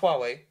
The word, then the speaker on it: Huawei: No, it's pronounced Huawei. Huawei.